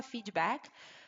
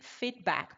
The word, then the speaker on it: feedback: Brasileiro vai falar feedback, mas a pronúncia correta é sempre feedback, porque não tem um i.